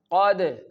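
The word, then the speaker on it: قد: Now the third part, qad, qad, qad. A little vibration and the kalkala will pronounced correctly.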